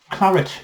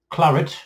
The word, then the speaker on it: claret: Claret is a dry red wine produced in which region of France? Claret, or the Americans say claret, is a dry red wine produced in which region of France?